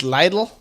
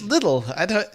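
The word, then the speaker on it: Lidl: it in my head so as a German you think it'll be pronounced Lydell why is it little like why is it Lydell you're right should be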